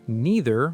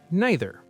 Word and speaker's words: neither: And just like either, the pronunciation can be neither or neither. Yep, same deal. Both are fine.